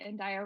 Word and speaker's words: Andaya: Andaya rhymes with papaya, so I've always kind of gone by Andaya Papaya.